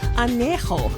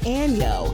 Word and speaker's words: añejo: Fans dragged Kendall for not even knowing how to pronounce añejo correctly, calling it año instead.